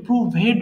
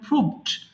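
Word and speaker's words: proved: এই জাতীয় ওয়ার্ডগুলোর ক্ষেত্রে মাঝেমধ্যে যে ভুলটা করে ফেলে মানুষ ওই ভি ইডি কে ভেড বলে প্রুভেট বলে ফেলে কিন্তু এটার উচ্চারণ প্রুভড প্রুভড polish sorry publish প্রকাশ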